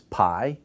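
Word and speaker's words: π: This is pi, p, pay, but p, p, p.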